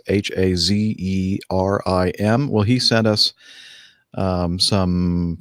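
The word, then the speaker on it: Hatzerim: And then the Z is pronounced T-S in the word it's. Okay, so Steph, go ahead. Hazrim.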